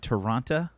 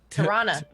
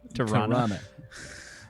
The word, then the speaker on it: Tirana: What was it? Taranta? Tirana. Tirana. Only non-locals say Taranta.